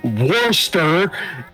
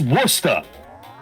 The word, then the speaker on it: Worcester: It's not pronounced Worcester. It's pronounced Worcester.